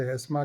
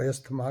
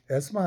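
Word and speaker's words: asthma: उसको दमे की बीमारी भी थी, जो है जिसे एस्मा कहते हैं, और लोग गलत प्रोनाउंस करते हैं, उसको एस्थमा कहते हैं, लेकिन करेक्ट प्रोनाउंसिएशन एस्मा है।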